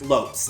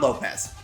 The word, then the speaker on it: Lopes: none other than key Lopes who also composed for 2 HD as well as their mobile game major magnet and yeah it's apparently pronounced Lopes like soaps or hopes not Lopez I don't have much